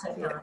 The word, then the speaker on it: cytokines: Cytokines, yes. Cytokines, that's how you pronounce it.